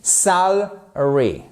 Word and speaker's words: salary: Et en fait dans la prononciation en pratique, c'est un e atténué. Salary, salary.